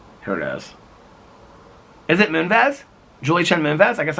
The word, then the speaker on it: Moonves: Julie Chen Moonves. Outside, I always say Moonves, and I know that's not right. I can't pronounce.